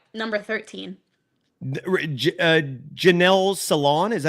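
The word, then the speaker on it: Janelle Salaun: Janelle Salon, is that how you pronounce it?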